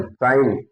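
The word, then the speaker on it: sign: साइन, यस आई जी एन, साइन, साइन means हस्ताक्षर, साइन means हस्ताक्षर।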